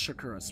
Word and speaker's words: Shakuras: to be pretty cool I think it's called shakuras it's it's pronounced shakuras without a doubt um so there's going to